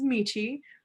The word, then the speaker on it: Michi: So hi there, my name is Michi, rhymes with peachy, and I like growing greens.